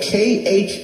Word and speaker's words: Khazars: Anybody listening to me, please do the research on the word Khazar, and if you have something to write with, that's spelled K-H-A-Z-A-R-S, Khazars, and Ashkenazim.